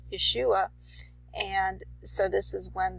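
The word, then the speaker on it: ישוע: There's no J in the Hebrew. It's pronounced Yeshua.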